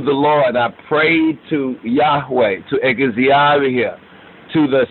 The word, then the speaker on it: Yahweh: there right and see that's Yahweh or they say yov but really Yahweh right properly pronounced right according to the proper Sonics behold thou Hast made